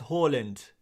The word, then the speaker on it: Haaland: this so much but why do I pronounce Harland as Holland and we've got any